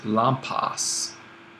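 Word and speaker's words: λαμπάς: then the noun is lampas Accent on the alpha so the sigma at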